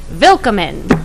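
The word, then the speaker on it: Willkommen: do Dave so and it's spelled with a W it's spelled WI ll ko mm en but forget the W it's a v its vill comin so everybody jot that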